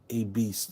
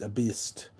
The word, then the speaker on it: Baest: Looks like beast, but it's all the E and A are backwards. A beast. A beast, I think, is how you say it.